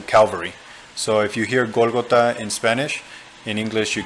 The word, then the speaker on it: Golgotha: Golgota in English would be Golgotha, but it's harder to understand, and that's the Hebrew name for that place. In English, it's translated to Calvary. So if you hear Golgotha in Spanish, in English you could say Calvary.